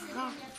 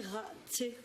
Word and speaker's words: rat: Et alors, l'autre lettre, donc tu me dis qu'elle est muette. Vas-y, place-la quand même. Et qu'est-ce que ça veut dire quand on dit qu'elle est muette? Eh bien, ça veut dire que ça fait A. Et le? Ça fait rat. Est-ce qu'on dit raté? Non, Rate. raté.